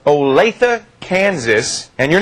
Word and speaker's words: Olathe: It's Olathe. Olathe, Kansas.